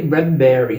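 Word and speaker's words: Bradbury: bastante por lá Ray bradberry Ray bradberry que é pronúncia correta eu aprendi que a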